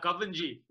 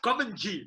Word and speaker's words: Govindjee: Uncle Dev, how do you say your surname, right? Whichever way you want to. Govindjee is the easiest. Yeah, Govindjee. That's it.